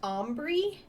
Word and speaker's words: Ombri: It's pronounced Ombri? I would have butchered that if you hadn't said that first.